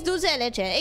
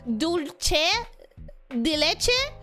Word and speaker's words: dulce de leche: Except people who don't speak Spanish tend to pronounce it dulce de leche, assuming that it's an Italian thing. Like, they see the word and they're like, ah, Italian, dulce. And it's like, no, it's Argentinian. It's dulce.